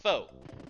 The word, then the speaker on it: faux: Actually, it's pronounced foe.